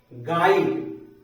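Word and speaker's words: guide: में चला जाता है गड गर्जन गाइड यू का य यहां पर उच्चारण नहीं होगा तो इस प्रकार से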